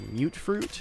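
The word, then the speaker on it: mutfruit: mut fruit I guess I've been told it's pronounced mute fruit apparently those will be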